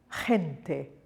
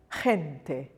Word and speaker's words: gente: The letter G is pronounced soft when it's followed by an E or an I. So we have gente, gente.